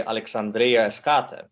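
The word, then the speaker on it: Alexandria Eschate: Yeah, it's Alexandria the furthest, which would be Alexandria Eskate.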